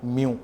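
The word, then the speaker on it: μ: Refractive index ये एक symbol से डिनोट होता है, जिस सिंबल को हम कहते हैं, प्रोनाउंस करते हैं बाय म्यू, ओके।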